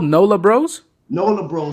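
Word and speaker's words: Breaux: what's it called nola bros nola bro so bros is spelled like cajun oh dalvin bro b r e a u x o s so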